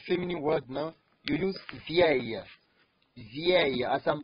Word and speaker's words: vieille: If it is female, you are using for a feminine word now, you use vieille. Vieille. As I'm pronouncing it, say it with me.